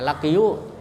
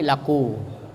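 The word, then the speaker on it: لقوا: pada huruf wau Sakinah Jadi kalau lakiyu itu ada ya-nya ya berbaris sukun kemudian ketemu dengan huruf wau ya lakiu ya Jadi ini susah bacanya maka ya-nya dibuang ee menjadi laku ya seharusnya lakiu tapi ee susah maka dibaca laku dihilangkan dianya dan Apabila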